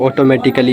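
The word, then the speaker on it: automatically: जब किसी शब्द के अंत में सी ए डबल एल वाई आता है तो वहां आ क्या हो जाता है? साइलेंट हो जाता है।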